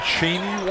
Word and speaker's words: Cheney: Cheney. How do you spell it? Is there a double E? C-H-E-N-E-Y. Okay, there's 2 E's, but they're not consecutive.